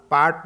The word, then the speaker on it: Paris: जैसे एग्जाम्पल के लिए देखेंगे PARIS, तो इसमें लास्ट लेटर क्या हमारे पास एस है, तो इसको पढ़ेंगे नहीं, हम बोलेंगे नहीं, तो इसको पढ़ेंगे हम पैरी, पैरी।